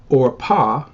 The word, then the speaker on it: Orpah: in the r so as you can see the biblical pronunciational name is orpah and then oprah it's